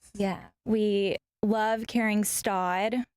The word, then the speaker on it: Staud: We love carrying Staud. Some people pronounce it Stoud.